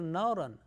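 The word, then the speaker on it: نَارًا: Tanween of fatha, like for example, naran. Naran sayasla naran dhat al-lahab. Naran, ra with two fatha. Tanween of fatha. Thick.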